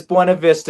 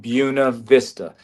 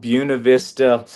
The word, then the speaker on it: Buena Vista: So, and coming from a Hispanic background, yes, it is Buena Vista is what it's written. But the lady that founded this place, so I'm sure I'm making mistakes. She wanted it pronounced Buena Vista. That way you know who was local and who wasn't, and it was something like that.